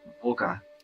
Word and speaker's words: Wolke: It's Wolke. Want to try pronouncing that? Volka. Volka. Volka. Wow, perfect pronunciation. You got that V sound locked in.